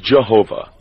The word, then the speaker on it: Jehovah: Many pronounce it Jehovah, while others pronounce it Yahweh. No one today actually knows how it was pronounced in olden times.